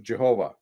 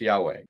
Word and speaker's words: Yahweh: for thousands of years christians called god's name jehovah until the scholars later came up with oh that's not how it's pronounced that's pronounced yahweh but christians used the